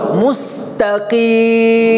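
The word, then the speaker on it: مستقيم: নাস ইহদি নাস সিরাতাল মুস্তাকিম। মোস না, অনেকে মোস পড়ে, ওকার নাই, আরবিতে কোনো ওকার নাই, কেমন কি আছে রস্যকার, মুস্তাকিম মুস্তাকিম ইহদিনাস সিরাতাল মুস্তাকিম মুস্তাকিম।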